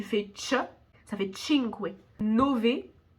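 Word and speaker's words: nove: chop ça fait chingway Nové le V si tu fais espagnol tu vas penser qu'on dit Nobé mais non le V on prononce vraiment V en italien ok là je suis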